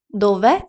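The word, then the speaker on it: dove: займенник дове та е дове наголос падає саме на е дове Іль телефоно де Телефон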